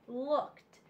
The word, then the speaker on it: looked: a t Okay so the T and looked sounds like T okay I looked out the window looked so this special sound